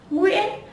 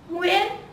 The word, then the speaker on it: Nguyễn: And remember, the most very common last name in Vietnamese is Nguyễn. Nguyễn. Nguyễn. Nguyễn. Okay, that's all. You have now pronounced some common last name in Vietnamese, and